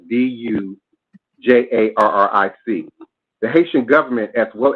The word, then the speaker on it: Dujarric: I believe it's pronounced Dujurek, Dujarric.